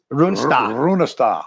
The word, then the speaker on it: Runestad: So here's your other one, Senator Jim Runestad, at Senator Jim Runestad, and we know how to pronounce it. Runestad. Runestad. In the Norwegian, yes.